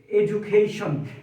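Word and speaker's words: education: উচ্চারণ বর্গীয়জ হয়ে যাবে তাইলে এখানে ডি এর উচ্চারণ ড না হয়ে বর্গীয়জ এডুকেশন এডুকেশন মানে হলো শিক্ষা শিক্ষাদান বা শিক্ষা লাভ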